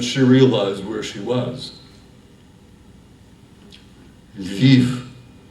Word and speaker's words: Lviv: Lviv, he pointed through the window, pronouncing the L softly.